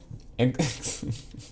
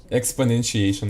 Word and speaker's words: exponentiation: use it for expon exponential pronunciation. Wow. Exponentiation. No way. It makes me so funny. Exponentiation.